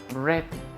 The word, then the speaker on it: read: Porque recuerda que en ausencia del did read, pero en presencia del did, entonces el verbo se pronuncia read.